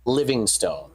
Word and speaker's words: Livingstone: we're heading towards again livingstone or livingston depending on your pronunciation no it's it's living stone there's an e at the end uh i'll be i'll